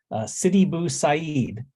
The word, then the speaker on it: Sidi Bou Said: But the band is it's pronounced Sidi Bou Said, and this is like I said, band out of London.